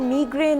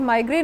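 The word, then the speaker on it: migraine: बिल्कुल आप सही कह रहे हो, और माइग्रेन मीग्रेन दोनों डिफरेंट इंग्लिशेस आपने दोनों सही कही हैं, एक अमेरिकन है, एक ब्रिटिश उसकी है प्रोनाउंसिएशन।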